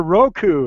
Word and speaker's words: Roku: want a Roku said Oh you mean a Roku it's like oh is that how it's pronounced so I I think I went several